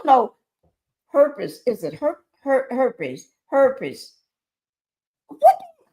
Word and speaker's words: herpes: Is it herpes? Her herpes. Herpes. That's how you say it.